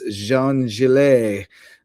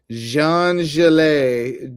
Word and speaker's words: Jean-Gilles: Jean-Gilles. J E A N {hyphen} G I L L E S. I'm I'm I'm bestowing the French pronunciation. Oh, oui oui. Uh-huh. Jean-Gilles.